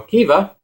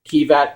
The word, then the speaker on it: Kiva: well they're japanese okay he said kiva but it's supposed to be a v now henshin and it